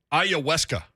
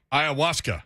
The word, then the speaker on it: ayahuasca: a it doesn't it doesn't sound how it looks ayahuasca ayahuasca there you go i